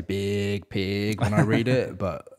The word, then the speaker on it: Biig Piig: So I like to say Biig Piig when I read it, but every interview it's just pronounced Biig Piig.